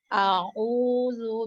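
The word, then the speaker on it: أعوذ: Tadi di bacaan pertama kedua tak huruf A-nya masuk sedikit ke huruf Ain. Jadi kasih tegas dulu, A dulu, kasih selesai baru masuk U.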